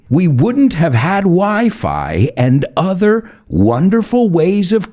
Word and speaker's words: Wi-Fi: have had wi-fi and please please don't say we fee my ears bleed when i hear weefy we wouldn't have had wi-fi and other wonderful ways